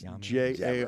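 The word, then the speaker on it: Jaromír: I think it's Jamir. No, it's I think it's Jaromir. There's an R in there.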